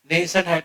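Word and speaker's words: nascent: खड़ र व ने नेसें की स्पेलिंग क्या है एन आई यह देखो एन एन ए एस सी ई एन टी इस बंदे को कहा जाता है नेशन लिख लो लिख लो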